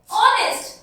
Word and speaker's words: honest: अब देखिए honest sound क्या आ रही है हमारी? O की साउंड आ रही है एंड H इज यहाँ पर साइलेंट.